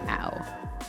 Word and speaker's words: Ao: but I'm gonna put AO down because that sounds fun. Or ow, I think is how it's technically pronounced.